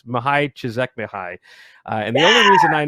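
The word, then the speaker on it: Mihaly: know who we're talking about it's mahai shizek mihai and the only reason i know how to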